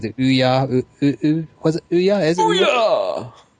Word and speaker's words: Ouya: You've got to say it like you're trying to discharge your bowels. Just watch that you don't. You sit on the toilet going, Ouya!